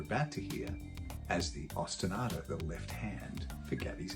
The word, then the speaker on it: ostinato: Ostinato. Ostinato. Ostinato. You put the emphasis on the third syllable.